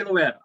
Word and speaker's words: Liotta: And you know who's really the prime example of this, and I don't mean this in disrespect, but Ray Liotta.